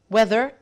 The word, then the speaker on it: whether: Whether the weather. احنا عندنا هنا طبعا في كلمتين بيتنطقوا نفس النطق لكن السبيلنج بتاعهم ومعناهم مختلف.